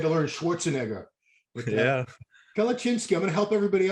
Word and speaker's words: Kalecinski: But yeah, Kalachinsky, I'm going to help everybody out there. You know, kale, that vegetable that nobody likes. yeah, Just kale, and then Cinski. You got it, Kalachinsky.